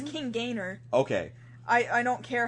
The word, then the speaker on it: King Gainer: saved Gainer G I'm pretty sure it's actually pronounced Gainer yeah it's King Gainer okay I I don't care how it man